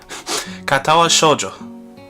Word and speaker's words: Katawa Shoujo: called Cottle katoa now let me let me pronounce is right katawa shoujo and apparently it's about um it's about a